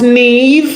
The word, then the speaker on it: Niamh: Niamh, huh? It's pronounced Neve.